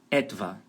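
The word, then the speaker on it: etwa: tá aí na tela a palavra étva Lembrando que a sílaba tônica é no comecinho em cima da letra e então fica importante vocês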